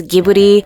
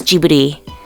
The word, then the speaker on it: Ghibli: the anime industry although the Italian word would be transcribed as gibbity with a hard G sound the Studio's name is written in Japanese as jubidy August 3rd of 2014